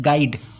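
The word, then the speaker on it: guide: कह रहा है कि वहि letter is silent in the world गाइड गाइड में आपको यू का साउंड आ रहा है क्या नहीं ना यू का जो साउंड होगा वो जो है साइलेंट है तो आपका ये ऑप्शन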